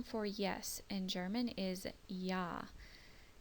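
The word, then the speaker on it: ja: yes in German is yah it's spelled j a but his pronunciation is with a y or a y sound written with a J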